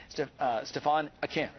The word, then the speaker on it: Stephane Aquin: And here to tell us more about the exhibit is Chief Curator at the Hirshhorn, Stephane Aquin.